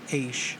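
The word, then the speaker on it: אֵשׁ: And then I've got the Greek definition of the ESH, pronounced aish, a primitive word meaning fire, literally or figuratively, burning, fiery, fire, flaming, hot.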